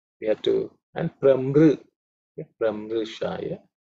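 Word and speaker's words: प्रमृशाय: Those are the two we have to, and Pramru, Pramrushaya. It's a Rikara comes, okay. Otherwise, the pronunciation is reasonably simple.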